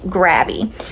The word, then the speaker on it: Grabie: okay these markers are from a company called grabby now grabby is spelled g r a b i e okay